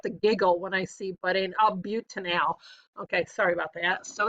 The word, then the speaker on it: butanal: No, Mrs. Vanderway, don't say that. It doesn't look like it's butanol. All right, no, say it right. It's butanal. All right.